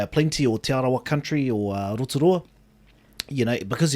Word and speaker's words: Rotorua: or tiarawa country or rotorua you know because everyone was saying rotorua you know it only felt right to fit in and say rotorua as well rather than rotorua yep and i've done